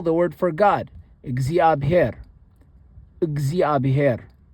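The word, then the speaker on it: እግዚአብሔር: The is similar to how one would pronounce the in milk. Milk. I say milk, but if someone says milk, it's actually so I guess milk is close enough, but it's like milk.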